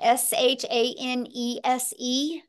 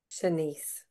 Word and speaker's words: Shanice: How do you say that? Shanese? Shanice. Shanice.